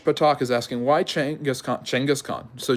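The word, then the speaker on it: Genghis Khan: is asking why Changas chenas Khan so chenas is the more is the better way to say his name and chenas Khan just means ruler um uh Khan means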